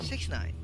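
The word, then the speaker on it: 6ix9ine: on may 8 1996 known professionally as takashi69 or j69 pronounced six nine is an american rapper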